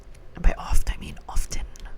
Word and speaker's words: often: Often or often. I do not pronounce the T and often. A lot of people do pronounce the T and often. I hear it is a hotly discussed topic.